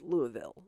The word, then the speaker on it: Louisville: There's a plaque on the corner of 4th and Walnut in downtown Louisville, Kentucky. I said that wrong. It's Louisville. I can never say it right.